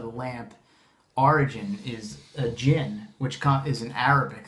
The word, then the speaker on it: djinn: okay but wouldn't it be pronounced it's still pronounced gin with that with the B yes it's because